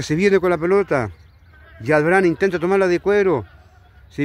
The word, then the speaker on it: Jadran: Jadrán. Así se escribe, pero es Yadrán.